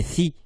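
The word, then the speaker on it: ثِ: Donc en disant si, sou, ça c'est faux. C'est thi et non pas si.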